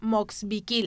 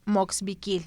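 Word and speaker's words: Moxviquil: cómo Se escribe la Universidad Moxikil es m de de mamá, o de oso, x v i q u i l. Moxvikil, así como se oye. Moxvikil para que lo googleen.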